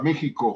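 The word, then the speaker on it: México: concepto y habla de una fiesta de para mexico hero for ya se escribe con x para los amigos que están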